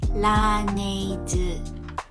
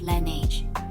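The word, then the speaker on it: Laneige: brand we'll stress on the unstressed sound like la neide instead of lineage so if you've learned korean you know that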